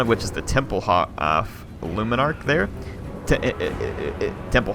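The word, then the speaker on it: Hoeth: the battlefield one of which is the temple H luminarch there Temple Hoff luminarch yes I said it right the first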